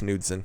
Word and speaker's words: Knudsen: The coalition of states, led by Montana Attorney General Austin Knudsen, I think it's Knudsen. Normally you don't pronounce the K, but who knows? It's Montana. It could be different.